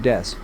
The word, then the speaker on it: です: on the Japanese word des, which is the word used for introducing yourself, like saying I am or we are. By simply mispronouncing Su Metal Des, by saying Su Metal Death, they have a cute